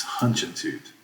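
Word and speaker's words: Hunchentoot: documentation for hutchinson too so hutching too am i saying that correctly it's hunching toot i better say it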